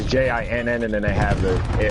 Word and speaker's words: jinn: So they're talking about D-J-I-N-N gin, right? Yeah, well, archons is it's J-I-N-N, and then they have they have in the quotations D-G-I-N-N.